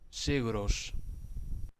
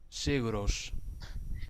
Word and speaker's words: Sigur Rós: Miren cómo se pronuncia Sigur Rós. Sigros. Sigros.